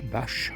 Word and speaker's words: Bach: Bon là, j'arrive à la ferme Saint-Jacques à Bâche, ça s'écrit bac B ch. Ça se dit bâche, c'est ma destination du jour.